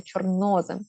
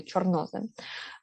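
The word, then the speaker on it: чорнозем: ось такий сполучний голосний чорнозим До речі наголос сюди чорнозим е зоре Зорепад листопад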